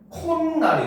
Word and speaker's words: 콧날: 그래서 코와 날이 합쳐졌는데 발음하니까 어떻게? 콧날이 돼요.